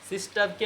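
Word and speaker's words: sister: সিস্টারকে আমরা এতদিন সিস্টারই বলতাম, মানে বোন, কিন্তু এখন আর সিস্টার বলা যাবে না, কি বলতে হবে? সিস্টা।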